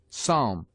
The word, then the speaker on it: psalm: P is sometimes mute, as in psalm, and between M and T, as tempt.